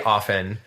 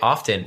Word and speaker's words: often: offend you but like I say often like a soft F but a lot of people say often and both pronunciations are right so anyway I I